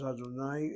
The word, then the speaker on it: Adonai: Yud He Vav He, which Jews pronounce as Adonai in their religious services.